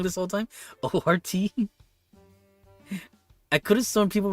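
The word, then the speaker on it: ORT: O RT. I could have sworn people were pronouncing it QRT.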